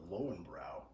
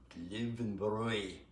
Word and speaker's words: Löwenbräu: private guest house, and I asked the owner, I said, how do I get the Lowenbrau? And he said, Löwenbräu. Löwenbräu. That's how you say it. Even You gotta say it right.